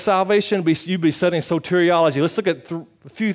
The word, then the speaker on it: soteriology: to study so tear that's salvation so tyra soteriology is how you pronounce that so if you were in seminary or something you were studying the the doctrine of salvation because you'd be studying soteriology let's look at a few things about soteriology